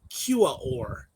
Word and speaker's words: Quaoar: The ring surrounds Quaoar, spelled Quaoar. And I want to point out that's the first non-Hawaiian word that has 4 syllables in a row.